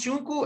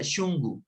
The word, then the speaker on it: shungu: Sí, si decimos shunku está muy bien, pero por lo general se pronuncia shungu. Vamos entonces a ver nuevamente a proyectar acá. Entonces, hay palabritas como esta de aquí, en donde la K suena como la G.